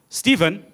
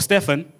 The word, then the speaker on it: Stephen: with the killing of Stephen Stephen or Stefan depending on what language you're using to pronounce that name when you say Stefan